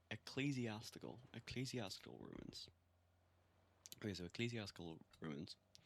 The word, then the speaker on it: ecclesiastical: Holy shit, I've been pronouncing it so wrong. Ecclesiastical ruins.